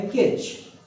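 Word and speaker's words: catch: अगला जो शब्द आता है वो आता है कैच। यहाँ पर टी साइलेंट है, आपको मालूम है।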